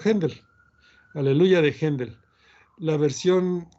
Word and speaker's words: Haendel: así aleluya de haendel haendel se escribe en el l h n de l yo la pronunció haendel aleluya de haendel la